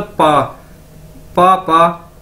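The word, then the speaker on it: 爸爸: बोला जाता है, यानी ये बी ए मतलब पा पापा, ठीक है, जिस तरह हम इंग्लिश में भी कहते हैं पापा, तो चाइनीज में भी ये सेम है पापा,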